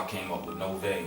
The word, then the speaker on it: Novej: I came up with Novej. I pronounced it, with the J being silent, and did further research and found out that Novej is actually a word that means new in Russian.